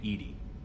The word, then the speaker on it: EDI: Why are you named Edy? EDI is the phonetic pronunciation of EDI.